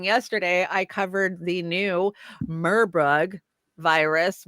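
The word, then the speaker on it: Marburg: watched my reporting yesterday I covered the new murbug virus marbug I think is how they pronounce it virus that uh they're keeping an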